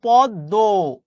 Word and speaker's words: পদ্ম: পদ্ম ফুল, এটার উচ্চারণ কিন্তু পদ্ম।